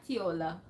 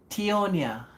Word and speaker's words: Tionia: And also guys, Did you say Tionia or Tiola? Tionia.